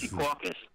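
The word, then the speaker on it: Secaucus: Sea Caucus.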